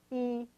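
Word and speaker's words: 一: Let's say you want to type the Chinese character E, which means 1, and it's pronounced like the letter E except in a higher tone. E, like that.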